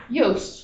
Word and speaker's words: Yost: Yos.